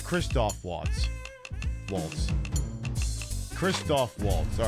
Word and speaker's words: Waltz: It is Walt spelled like you're dancing, right? Not walls like you're uh a weenie who should be put behind a wall.